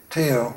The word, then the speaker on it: Teo: Is that how you pronounce his name? Teo.